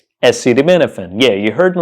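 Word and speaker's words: acetaminophen: but how do you pronounce it the correct pronunciation is acid menen SD Menin yeah you heard me right SD Menin SD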